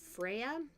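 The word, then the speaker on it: Freyja: Is that spelled F-R-E-Y-G-A? No. Because if it was, that's pronounced Freya, and I was about to slap you over the head for getting a Greek god's name wrong.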